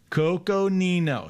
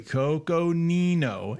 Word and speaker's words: Coconino: I always get in trouble too by saying this one incorrectly. So I'm going to say it correctly here, right? Coconino. You guys like when I say it correctly. Coconino, Arizona.